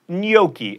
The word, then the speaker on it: gnocchi: break for lunch like 30 minutes ago it's gnocchi and crepe not crepe then we have a